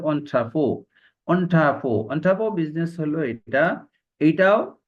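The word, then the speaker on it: entrepôt: এন্ট্রি port, এটাকে বলা হয় এন্ট্রি পোর্ট, লেখা আছে আসলে এটার উচ্চারণ আছে অন্ট্রাপো।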